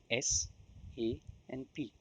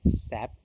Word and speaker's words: SAP: do you say sap it is an initialism not an acronym therefore it is pronounced as individual characters that is S A and P and it's not called sap which has a different